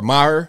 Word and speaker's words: Maher: Her name is Catherine Mayer, or Maher, like Bill Maher. It's spelled the same, M-A-H-E-R.